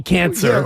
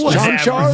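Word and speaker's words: Čančar: But last night, it was Conchar, and I'm like, wait, the guy's name can't be Cancer. Yeah. It's almost spelled like Cancer. Is it Konkar? If it was Chanchar. Bahamian. Oh, it's Chanchar?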